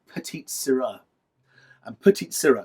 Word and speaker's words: Sirah: a variety called Petite Sirah. And Petite Sirah, Syrah sounds like Syrah as in Shiraz, but it's spelled S-I-R-A-H, not S-Y-R-A-H, as a point of